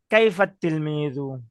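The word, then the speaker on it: كيف التلميذ: যে আত-তিলমিজুন যেটা আছে, তো এখানে আলিফও কিন্তু উচ্চারণ হইলো না, আবার লামও লাম উচ্চারণ হবে না।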